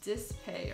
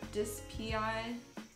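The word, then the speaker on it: DSPIAE: Yeah, it's pronounced Dispay or Dispi.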